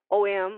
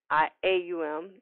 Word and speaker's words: Om: the two to comment mantras are ohm which some people pronounce with the OM or hmm AUM is really depending on the culture and the person Transcendental Meditation is a